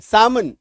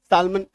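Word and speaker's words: salmon: ए एल एमओ एन एम से पहले एल है काट दीजिए अब पढ सामन सामन एक्चुअली एक पिस है सालमन हालाकि लोकली इसको सालमन सालमन फिस बोलते लेकिन वह गलत उच्चारण है सामन बोलते ठीक एक्चुअली में होता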